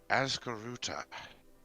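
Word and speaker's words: Ascaroota: a few oh thousand years ago now named azkaruta that's a-s-c-a-r-o-o-t-a i probably should spell it when you're actually ready to write but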